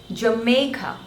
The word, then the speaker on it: Jamaica: is real next is Jamaica Jamaica three syllables Joe May and Ka the stress is on the second one may Jamaica Jamaica Jamaica